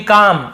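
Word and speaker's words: calm: आसान है, टू बी काम, ये एल साइलेंट होता है, काम पढ़ेंगे, काल्म नहीं पढ़ेंगे, काम यानी होता है शांत रहना, ठीक है, क्या है, उसके लिए शांत रहना इतना आसान है।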